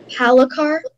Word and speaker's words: palikar: Palikar?